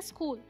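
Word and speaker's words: school: है ये है थम स्कूल में क्या साइलेंट है स्कूल में एच साइलेंट हम क्या पढ़ते हैं स्कूल और इसे हम कनी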